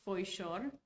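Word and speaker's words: Foișor: The official pronunciation is Foishor. That's the official pronunciation of my name.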